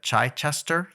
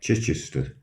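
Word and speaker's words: Chichester: He's from somewhere called I'm going to probably mispronounce this, but Chai Chester, UK. Did is that Did I butcher that? Yes. How do you say it? Chichister.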